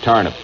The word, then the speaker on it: turnip: mysterious quote turnip man well it's pronounced in indiana tarniff that's turnip the mysterious turnip man